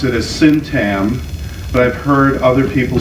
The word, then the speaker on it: syntagm: always pronounce it as syntam, but I've heard other people say syntagm, because the G, there's a G, which I think is silent.